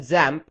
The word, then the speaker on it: XAMPP: using it we're going to use something called examp you can also call it zamp and that's how it's supposed to be pronounced however I'll just refer to it as